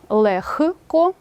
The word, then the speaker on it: легко: слід завчити на пам'ять у словах легко вогко кігті нігті дьохтю дзвінкий г переходить у глухий х тобто слова транскрибується Таким чином лехко вохко кіхті і вимовляються так само ніхті дьохтю ці винятки треба запам'ятати наступне правило глухі приголосні